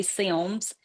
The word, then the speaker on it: Sims: um actually right outside of Mobile in a town called Sims, Alabama. If you're from there, you would say Sims with two syllables, but and it is